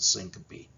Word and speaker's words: syncope: I know the words don't look like it should be pronounced that way, but it's pronounced vasovagal syncope.